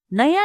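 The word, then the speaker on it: know: teach जानु थ पनु नो के एन ओ डबल नो यहां के साइलेंट हु्छा के एन ओ डबल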